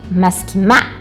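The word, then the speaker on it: מסכימה: E ele passa a ser a sílaba mais forte. Então, maskimá. Maskimá.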